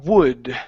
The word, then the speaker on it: would: one here okay uh would so here okay and instead of pronouncing that L okay you said W okay take out that L she would not she